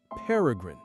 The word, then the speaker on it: peregrine: By the way, if you've ever wondered, it's pronounced paragrin.